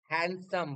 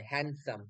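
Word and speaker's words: handsome: এই হ্যান্ডসামের ডিটা উচ্চারণ হয় না সাইলেন্ট থাকে সাইলেন্ট হ্যান্ডসাম বলা হয়। হ্যান্ডসাম।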